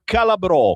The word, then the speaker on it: Calabrò: Lui si chiama Andrea Calabrò, con l'accento sulla O, in arte Calapiano, perché suona il piano.